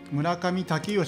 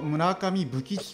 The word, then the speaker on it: 村上武吉: ですが、この武将武義、村上武義と読むのですが、ずっと村上武吉と読んでたんですね。